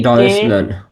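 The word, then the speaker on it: Deutschland: তালিবস টে এসেহা, টে এসেহা হচ্ছে তালিবস ছয় ছয়ের মতো উচ্চারণ হয়। যেমন দেখেন ডয়েচ, ডয়েস লান, এই যে টে, ডয়েসল্যান্ড। টে এসেহা, টে এসেহা আচ্ছা। মিলে তালিবস ছয় ছয়ের মতো হচ্ছে একটা উচ্চারণ করে। হ্যাঁ, হ্যাঁ। তো ডয়েস ল্যান্ড, ডয়েস ল্যান্ড অর্থাৎ হচ্ছে জার্মানি।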